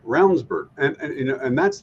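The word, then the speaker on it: Ravnsborg: was running as well but rburg name is spelled ravensborg Raven that's right it is right but it sounds like rburg and you know and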